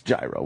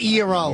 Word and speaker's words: gyro: your mouth open yeah it's gyro we all know that it's gyro it's not year all what a bit yeah